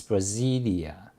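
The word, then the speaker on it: Brasília: pronounce the city correctly brasilia okay so in brazil in portuguese it's brasilia that's a city or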